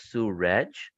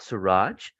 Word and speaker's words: Suraj: Mel by the way my name is pronounced as Sue reg uh not Suraj uh but at least